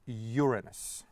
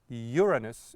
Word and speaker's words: Uranus: Well, the correct pronunciation, most correct pronunciation I know is Uranus, because these are not coming from English language. Those are, the names of the planets are coming from the Roman gods, and the correct pronunciation